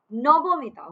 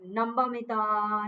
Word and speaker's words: Nabamita: My name is Nobomita. Okay, it's not like Nambamita, Namamita, nothing like that. It's Nobomita.